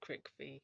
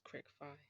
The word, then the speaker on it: Cricfy: I keep saying crickby as the pronunciation, but it's not. It's crickfy.